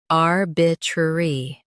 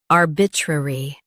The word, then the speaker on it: arbitrary: Arbitrary. Now, read the syllables of British pronunciation shown on the screen naturally. Arbitrary. Arbitrary. In U.S., stress R and say tr lightly. In UK, stress R and soften re.